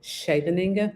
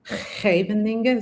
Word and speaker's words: Scheveningen: And I just struggle with the SCH in Dutch. So Uh-huh. I just say Scheveningen, but it should be like Scheveningen.